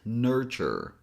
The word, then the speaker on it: nurture: attention here is that this word looks like it has three syllables, but it actually has two syllables. So we only have ner and chur. So that's it, nurture.